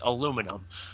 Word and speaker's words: aluminum: Uh that depends a little bit on where you are. Uh in the United States where I live it's aluminum. Uh but I think basically the rest of the world pronounces it aluminium.